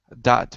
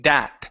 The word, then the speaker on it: that: That way. That way. That. Okay, give me a TH. You're pronouncing a D. You're saying dat. Instead of dat, it's that.